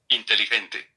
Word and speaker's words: inteligente: Inteligente.